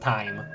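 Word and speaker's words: thyme: actually I'm pretty sure it says pronounced time like the the spice pogs pogs like suits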